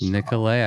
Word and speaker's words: Nicola: The first one I was thinking about is the Tour de Nicola. Is that how you say that? That's how you say it. So it's French. Yeah, Nicola is French. Nicola, I got it right.